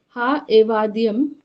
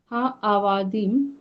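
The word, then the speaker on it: הָעֲבָדִים: Ha evadium. No, ma'am. You are trying to pronounce this ayin. Ayin is silent. So ha, va, dim. Ha avadim.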